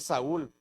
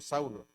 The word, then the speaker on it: Saúl: Aquí debería decir Saúl, porque la lengua hebrea ahí se pronuncia Saúl, pero le pusieron Saulo.